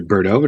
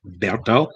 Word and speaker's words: Berto: name is mr berto everybody says mr birdo it's actually pronounced berto i had to pronounce